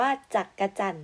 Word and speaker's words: จักจั่น: จักจั่น ออก เสียง ว่า จักจั่น นะ คะ จอ อัด ก็ จาก ไม่ ออก เสียง ว่า จัก นะ คะ คำ ต่อ ไป ค่ะ